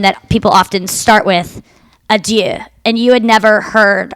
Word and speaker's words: adieu: idea right yeah like you're not even saying it right you're saying i do to bid i do